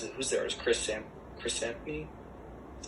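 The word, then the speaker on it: Samnee: Chris Samney? Is that how you pronounce it?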